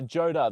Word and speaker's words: Joda: Uh sorry, am I saying his name wrong? Jod or Jod. Uh Joda, the first one.